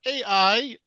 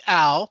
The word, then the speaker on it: AI: We're going to talk about AI, not Al, which is one of my colleagues pronounced was like, "What's this Al we're all talking about?" So that little sans serif there messes some people up.